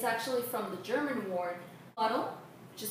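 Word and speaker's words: Pudel: The word poodle, the English word that we know poodle, it's actually from the German word puddle, which is spelled P-U-D-E-L, and it actually means to splash in water.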